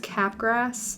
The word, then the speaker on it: Capgras: And it also talks about, I think it's pronounced Capgras syndrome.